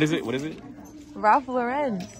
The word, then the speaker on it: Ralph Lauren: it what is it Ralph Lauren that's how you say it I'm telling you Ral Lauren it's not Ralph Lauren raen it's raen i